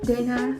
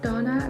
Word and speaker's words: Dana: Dana, not Donna. Apparently some of you guys think that because of sauna, but no, my name is Dana, like the regular English name.